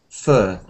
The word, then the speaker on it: fur: Fur. There are two... I know this fir tree and fur on an animal are homophones.